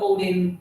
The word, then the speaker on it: Odin: It can be Odin or Odin, depending how you pronounce it.